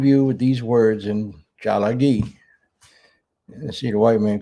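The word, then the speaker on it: Tsalagi: So I'll leave you with these words in Chalagi. And see, the white man couldn't even pronounce it. Call us Cherokees. It's Chalagi.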